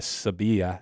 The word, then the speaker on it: Sevilla: Madrid, Barcelona, and Seville, or Sevilla, as they like to say. I think they actually know how to pronounce it better than I do. They have that Spanish kind of lisp.